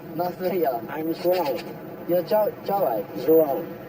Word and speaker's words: João: take in Rio and to meet his guide, João, an expert in all things Brazil, whose dad was a famous footballer. What's that name? Nice meeting you. Nice to meet you. I'm João.